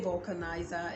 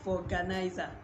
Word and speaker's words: vulcanizer: Okay, just kidding, but please say vulcanizer instead of vulganizer.